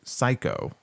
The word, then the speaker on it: Sikoa: His name is Sikoa. Remember Psycho Stu? It was spelled the same way, Syko. So he's a wrestler named Psycho.